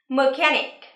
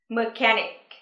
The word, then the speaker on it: mechanic: Trọng âm giờ vào âm tiết thứ hai nhé. Mechanic. Mechanic.